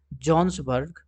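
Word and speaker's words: Johannesburg: जॉन्सबर्ग, ठीक है, स्पेलिंग थोड़ा अल्टर है लेकिन इसको पढ़ते हैं हम लोग जॉन्सबर्ग, जो कि साउथ अफ्रीका में पड़ता है।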